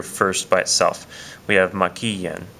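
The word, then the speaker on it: maquillen: We have maquillan, maquillan. So when I say maquillan, you can hear that the stress is right here. It's over that I. It's on the third syllable back from the end of this word maquillan.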